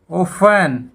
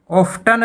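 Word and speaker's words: often: उसके बाद ओफन, ओफन, यहाँ पे ऑफ्टन नहीं बोला जाएगा, ओफन बोला जाएगा।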